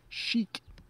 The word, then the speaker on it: chic: Chic. That's how we pronounce that.